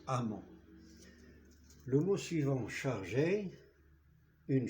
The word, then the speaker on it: emment: Ça veut dire que prudent se termine par ENT, l'adverbe doit se terminer par E, 2M, ENT et ce E, 2M, ENT se prononce amant.